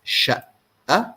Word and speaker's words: شقة: By the way, qaf in Egyptian Arabic is pronounced like Hamza most of the time, okay? But we do pronounce qaf sometimes. It depends on the word.